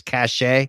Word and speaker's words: cachet: Gunslinger's cachet. CACHE is pronounced like this. Cash. Cash. CACHET, on the other hand, is pronounced like this. Cachet.